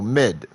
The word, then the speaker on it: Maed: The middle name is romanicized as Maed, but is pronounced and written in Japanese the same way as a recurring character, so Mid.